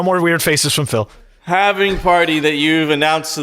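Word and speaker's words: halving: right it doesn't matter I say havening I know it's totally wrong people call it having so that's absolutely crazy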